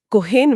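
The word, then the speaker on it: kochen: और आखिरी विय कोखन होइथे विय खोखन होइथे यहां कोहेन में ख वाली ध्वनि है क्योंकि ओ के बाद सी एच आया है।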